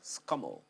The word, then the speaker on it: SCUML: ball to know exactly how the name of your unit is pronounced that elise acting director special control unit against money laundering scummel of the efcc thank